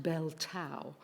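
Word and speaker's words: Belle Tout: I think it's pronounced Bell Tow. It isn't spelt like that, but I went to AI, and of course that must be right, and that's what it said.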